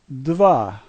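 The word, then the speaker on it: два: The first letter has a D sound, the second a V sound, and A sounds like A, so this word is dva.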